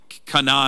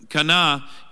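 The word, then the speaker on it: Cana: a little closer than Kana is the right way to say it but Kan is the way we all say it so they're all kind of up here but but this one here Kana it kind of has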